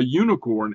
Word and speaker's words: unicorn: we pronounce this so we pronounce a unicorn as if it's a y-o-u a unicorn you see